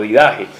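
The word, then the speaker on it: Didaché: la vida que en griego del viaje o didajé en la vida que nos habla de cómo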